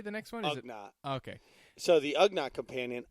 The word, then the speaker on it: Ugnaught: Ugnaught.